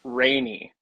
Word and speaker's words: Reini: with the pronunciation, it's rainy, not rainy. Right, Rainy. Okay, Rainy, gotcha, like the gotcha. weather, like the weather.